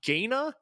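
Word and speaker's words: Gaina: it out loud uh gayna g-a-i-n-a is that how you would pronounce that sure yeah the uh the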